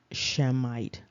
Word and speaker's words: Shemite: we talked about um it does indicate that it is the sh sound and so it would be shemite however it doesn't matter